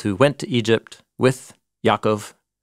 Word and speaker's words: Yaakov: went to Egypt with Yaakov. Jacob, yeah. Sorry, I'm trying to use Hebrew pronunciation in my translation.